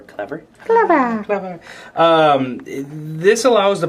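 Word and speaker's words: C Lever: sea lever okay um it's spelled c space lever for clever clever um this allows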